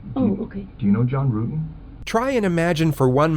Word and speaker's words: Rutan: John Rutten? Rutan. The investigators already knew how to say John Rutten's name correctly. The mispronunciation was a simple strategy to see how the suspect would react.